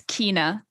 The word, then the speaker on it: Keena: Is it pronounced Kenna, or is it just K.N.A? It's Keena. Keena. It's like my last name, Keenan, but...